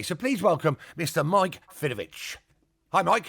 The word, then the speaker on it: Fidowicz: Mike Fidovich.